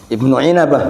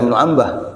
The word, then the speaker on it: Ibn Inabah: Ibn Inabah, bukan Ibn Ambah. Ibn Inabah. Para penggugat membacanya sebagai “Ibnu Ambah”, namun sebenarnya Ibnu Inabah dalam kitabnya* Umdatut Thalib* tidak menyebut Syekh Abdul Qadir Al-Jailani.